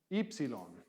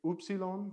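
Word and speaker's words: ύψιλον: e sounds Epsilon and this one is just like a you because technically our U is very similar to their you but whereas erasmian would say oopsilon or oopsel oop something um this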